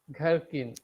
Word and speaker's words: gherkin: Gher, gherkin. Gherkin. And gherkin. H is silent, so it should be gherkin.